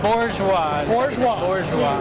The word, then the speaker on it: Bourgeois: know all right so i was told there is an r in bourgeois sort of yeah you lean into it right bourgeois yeah and dana's gonna